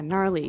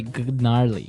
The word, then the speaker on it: gnarly: Gnarly. So, an interesting word. It's spelled G N A R L E Y. Okay. So, but you don't say gnarly. No, you say gnarly.